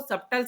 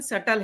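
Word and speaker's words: subtle: लोग सटल system को सबटल system बोलते हैं। उसमें बी साइलेंट है, उसका प्रोनंसिएशन सटल है। वो सटल है, उसमें बी नहीं लगाना, तो सबटल सिस्टम नहीं है वो, सटल सिस्टम है।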